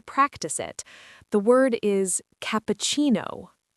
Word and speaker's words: cappuccino: And the stress is on the chi part. Cappuccino. Cappuccino.